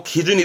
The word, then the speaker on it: 基準: 곧게 날아가고 있는이 고든게 어떠한 모든 것의 표준이고 기준이 되어지는 기준점의 준자 그게 이한자 있죠 발음은 기준 기준 활용도는 보게 되면 오늘 언급했던